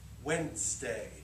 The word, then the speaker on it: Wednesday: So listen to how I say it. Wednesday. But Wednesday. So because look, that third letter is what? A D.